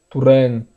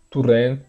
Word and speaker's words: Torrent: É claro que é um pouco difícil a gente se acostumar a falar Domènec Turèn, sendo que no contexto brasileiro, no dia a dia, neutralizar essa primeira vogal Domènec. A gente vai acabar falando Domenech, mais ou menos, como tem falado na televisão, Domenech, Turren ou Torren.